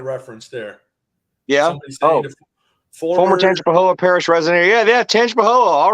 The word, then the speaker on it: Tangipahoa: Yeah, that was that is pronounced Tangipahoa.